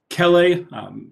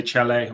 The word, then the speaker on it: chelae: chelae or chelipeds here, CH is always that K sound. You're not going to get kicked out of the club if you say chelae or chelipeds.